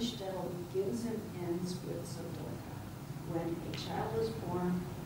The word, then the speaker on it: tzedakah: That would be, when we talk about it, we say tzedaka. That's the Israeli pronunciation. By the way, words that come from Hebrew into Yiddish almost always have the accent moved back toward the beginning of the word.